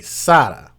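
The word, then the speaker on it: Saada: Last name S A A D A Sada.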